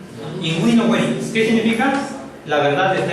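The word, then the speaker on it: in vino veritas: Inguino hueritas. No es invino veritas. Veritas tampoco es hueritas. No es veritatem, es hueritatem. Entonces, U. Imagínense que hay una U.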